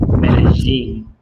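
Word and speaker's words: Medellín: So the two L's or a Y would be like a J, Medellin. I'm in Medellin, Colombia, which is inside of a mountain range.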